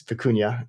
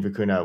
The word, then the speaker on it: Vicuña: even remember uh my students initially were saying fukuna when we were kind of building it uh so it was yeah vicunia is the correct correct uh pronunciations deploying machine